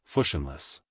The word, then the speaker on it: fushionless: That word is fushionless, pronounced fushionless.